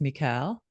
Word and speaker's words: Michal: And her name is pronounced Michal, I believe.